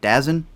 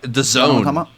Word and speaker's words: DAZN: have competition with uh i don't know how it's pronounced the dazn one dazzin dazen uh the zone weirdly oh yeah oh so wow the zone okay i will remember that from now on they have a big